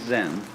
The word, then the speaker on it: Zen: AA is Japanese pronunciation like Zen is the Japanese pronunciation of the Chinese Chun and uh the